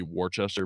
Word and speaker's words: Worcester: It looks like it's spelled Wester. Worcester, and to everyone else in the country, it'd be Worcester, but we're Massachusetts, Got it. so it's Worcester.